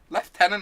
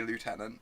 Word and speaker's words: lieutenant: left and lassic her left tenon is the correct pronunciation occasionally I slip and say lieutenant and then deeply regret it all right okay it